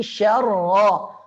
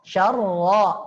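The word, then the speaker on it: شَرًّا: Dzarratin syarra. syarra, tebal. Syarrai, ada dengung juga.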